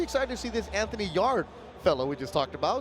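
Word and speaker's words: Yarde: You know, I think Yard could do much worse. Yard, than it's just Yard.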